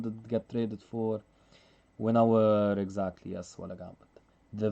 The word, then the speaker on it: Winawer: It's spelled W-I-N-A-W-E-R. Winawer. Or for someone who wants to pronounce it the English way, the Winawer.